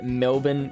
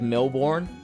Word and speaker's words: Melbourne: I hope I am pronouncing that right. Just like we try and instruct Americans to say Melbourne instead of Melbourne.